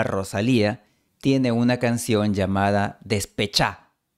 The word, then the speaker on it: Despechá: Por ejemplo, la cantante española Rosalía tiene una canción llamada Despechá. La palabra original es despechada, pero Rosalía pronuncia despechá.